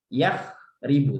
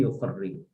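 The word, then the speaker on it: يُخَرِّبُ: Jadi nanti ketika kita membaca walaupun enggak ada barisnya, otomatis kita membacanya yukharribu, ya. Nah, seperti itu. Enggak yakhribu tapi yukharribu.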